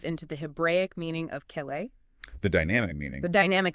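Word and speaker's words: כלי: Okay, so let's unpack this crucial Hebrew word, keli. It's pronounced Keli, found as H3627 in the lexicon.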